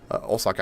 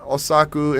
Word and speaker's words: Osaka: Osaka Osaku instead of Osaka pronunciation wise, it's Osaka.